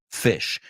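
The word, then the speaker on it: Phish: the band is named fish and if you've heard of this band or if you've seen their logo they uh they spell it pH like telephone or Pharmacy fish and great band uh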